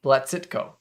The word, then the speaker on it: Blazytko: and before before you leave how do you pronounce your last name it's blacitco all right yes platcitco get this if i get the syllables right